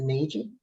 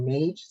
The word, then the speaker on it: Nagy: There is a woman on Martha's Vineyard, Lisa Nagy, or Nage, I think how you sell it, but it's spelled N-A-G-Y, who is an expert in environmental diseases.